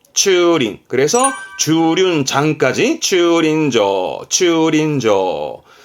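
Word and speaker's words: 駐輪: 뭐냐면 자전거를 세워둔다 이거요 그니까 차를 세우면 주차고수 발음은 추링 추링 그래서 주륜 장까지 추린 인조 차를 세우는 곳이면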